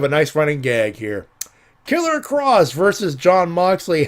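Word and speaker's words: Killer Kross: It's Killer Cross.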